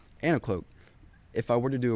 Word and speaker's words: Anicloak: How do you pronounce it? Anicloak, right? Anicloak.